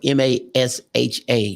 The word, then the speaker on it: Masha: And of course, folks, it's spelled M-A-S-H-A, no R, M-A-S-H-A, Masha Slamovich on Facebook, IG, Twitter, and the whole 9 yards.